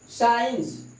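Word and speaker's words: science: अगर क्यू के पहले सी आता है या यस के बाद सी आता है तो सी साइलेंट हो जाता है। एक्टिविट, ये सी साइलेंट हो गया। एक्टिविट, साइंस, ये आपका सी जो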